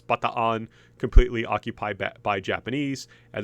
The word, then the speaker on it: Bataan: Americans call this baton, but in Filipino, those two double A's represent a split in syllable, so it's not baton, it's bataan.